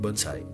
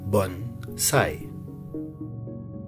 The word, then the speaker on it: bonsai: Aucun rapport avec bonsai. Vous pouvez donc désormais prononcer le mot correctement dans sa version japonaise, à savoir bonsai. Bonsai. Oh, I'm trimming my baby tree here. Bonsai tree.